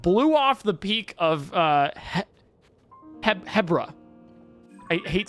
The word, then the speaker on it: Hebra: It's Hebra. Why Hebra? I guess it's like zebra. But no, that's what you pronounce it, zebra.